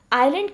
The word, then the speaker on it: island: बेटा सबसे पहले तो आप इस वर्ड आइलैंड की प्रोनाउंसिएशन को देखिए. ISLAND मैंने स्पेलिंग्स बोली है और इसे प्रोनाउंस कैसे करेंगे? आइलैंड. यहाँ पर एस साइलेंट है.